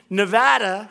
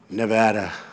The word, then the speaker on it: Nevada: And they don't know how to say Nevada. They don't know how to say it. She called it Nevada.